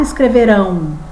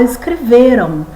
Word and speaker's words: escreveram: Se você observar, quem que você fala mais forte? Ou escreveram? Você fala mais forte aqui é o V. Você não fala escreverão. Você fala escreveram.